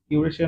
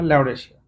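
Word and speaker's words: Laurasia: উপরে হলো ইউরেশিয়া আর নিচে হলো ইউরেশিয়া না ল্যাওরেশিয়া কাজে উচ্চারণ করবেন না আর আরেকটা হলো গন্ডোয়ানা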